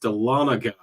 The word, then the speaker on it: Dahlonega: have captured it with my ears that is pronounced Dahlonega but I also think uh dalanega but we'll we'll see uh we'll see how